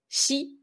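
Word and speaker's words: 死: est le mot chi si c'est la mort en japonais et c'est également l'une des deux prononciations du chiffre 4 le chiffre 4 il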